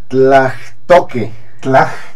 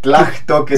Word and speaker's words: Tlachtoque: Tlachtoque. Tlachtoque, sí. Tlachtoque. Mira, yo no hablo náhuatl, pero me acerco a la gente que sí, me asesoro. Y ellos me dicen que la H ahí suena jalada.